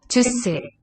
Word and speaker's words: 주스: So, 주스, 주스. We read each block-shaped unit is one syllable in length. Ju first, s going left to right. Is taken from English, most likely, juice. So one syllable for us, but in order for the s to be pronounced as a s fricative, it needs to be the beginning of the syllable. We say onset.